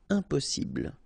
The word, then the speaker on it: impossible: Impossible. Don't insist on the final E. Impossible.